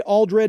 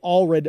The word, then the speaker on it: Aldred: I'm sure so Sophie aldred if you're listening I apologize I realize I got your name wrong with saying Sophie Allred the whole time uh Jess nerves I